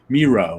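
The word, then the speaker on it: Mireault: hasn't been in um miro right rhymes with zero i t and only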